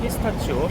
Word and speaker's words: pistacchio: 예술이야 예술 시칠리아는 무조건 피스타치오 얘네의 발음으로는 피스타 끼요요요데 미국이나 우리나라에서 피스타 치라 그러죠 칠리 오면은 피스타치 필수입니다